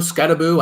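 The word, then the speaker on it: Skattebo: football pretty well scaboo scabo I don't I don't know I think it's scaboo I mispronounced the first couple times there it's scabo yeah that's his last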